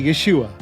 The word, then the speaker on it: Yeshua: support this is the right way to say Yeshua welcome to the biblically correct podcast teaching biblical correctness in a biblically incorrect world my name is I am a Jewish follower of the Messiah Yeshua Jesus and I love teaching the scriptures when